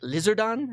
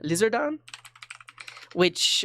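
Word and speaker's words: リザードン: we could do like lizard on lizard on um also won't work which is that's the how you pronounce uh charizard in japanese um like the lizard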